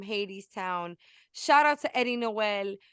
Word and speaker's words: Noel: amazing human being Eddie Noel was against on LOL okay because his last name rhymes with our show no because he's killing